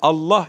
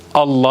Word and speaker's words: Allah: caizse gelin detayına bakalım Allah Allah yani Özellikle buradaki yazılışı önemli Allah isminden önce gelen harfin harekesi Üstün veya ötre ise lafzatullahtaki lam şu ortadaki görmüş olduğunuz lan bu kalın okunur Evet tekrar edelim Allah